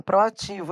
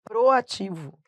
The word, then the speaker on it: proativo: Então coloquei aí, por exemplo, tem um que, ó, as pessoas erram muito, ó, proativo, as pessoas falam proativo, ele é muito proativo, não, é proativo.